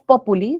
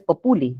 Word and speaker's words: populi: una tilde apopuli no porque es una esdrújula no es populi es populi bien ya está en